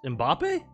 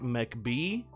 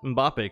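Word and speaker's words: Mbappé: other day couldn't pronounce mbappe someone pronounced mbappe like mech b that would be pretty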